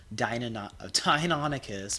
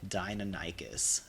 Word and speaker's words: Deinonychus: how to get a Deinonychus, man. I've always pronounced it my whole life, Deinonychus, but it's apparently Deinonychus. I checked, like, every pronunciation guide.